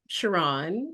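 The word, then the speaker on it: Sherron: yeah no it's it's a well hi everyone Chiron you did great with the pronunciation Mr Sam and when people when people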